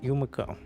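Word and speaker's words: Yumako: Yumiko.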